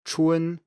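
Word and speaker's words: 春: case number three is the final spelled u n which is actually pronounced u e n this one varies a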